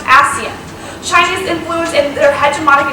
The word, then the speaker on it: ASEAN: deck the Association of Southeast Asian Nations, pronounced ASEAN.